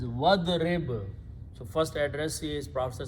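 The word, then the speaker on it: وَاضْرِبْ: When you pronounce together, don't pronounce alif, it becomes hamzatul wasl. So the pronunciation is wadrib.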